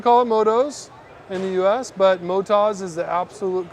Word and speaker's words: Motoz: We're a moto tire company from Australia, Motas. Hey there, Kyle Bradshaw from Chaparral Motorsports, and today we're going to be doing a tire test with the Motas Tractionator GPS tire compared to the Motas Rally tire. Thank you for clearing that up, Brian. Yeah, you're welcome. So it's not Moto Z?